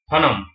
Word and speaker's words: फणम: Next है फणम, हिंदी में इसको ऐसे प्रोनाउंस किया जाता है, फणम।